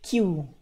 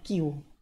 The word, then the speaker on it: queue: yang banyak sekaligus Nah itu namanya teknik cube tapi dibacanya Q nah jadi kita bakal